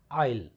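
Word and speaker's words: I'll: कर दीजिए इसको आइल, and this is pronounced as आइल, नॉट आई विल, I shell.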